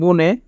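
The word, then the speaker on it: 분에: সামসিপ মানে 30 সানসিপ বুনে 30 মিনিটে এখানে বাচ্চিমের পরে ইয়ং থাকার কারণে ইয়ং এর স্থানে বাচ্চিম ডেকেছে তাই উচ্চারণ হবে বুনে বুনে মানে মিনিটে সানসিপ গুনে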